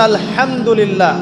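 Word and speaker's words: الحمد لله: খাও অর্থ চলে এসেছে আপনি পড়ছেন আল্লাহু আকবার আলহামদুলিল্লাহি রাব্বিল আলামিন এইতো আপনি পড়ছেন আলহামদুলিল্লাহ শব্দটা কি আলহামদুলিল্লাহ এই হা এর মাখরাজ কোথায়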